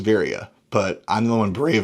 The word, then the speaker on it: Veria: But the company's called Veria, I believe, Veria. But nobody says that, because the few times I've heard people try to say it, nobody has said it the same. In fact, I know I mispronounced it in the first video because I didn't really know how to pronounce it. I believe it is Veria, but I'm the one